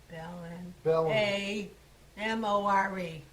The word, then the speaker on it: Ballinamore: B-A-L-L-I-N, Ballin. A-M-O-R-E. Oh. Ballinamore, that's how they pronounced it.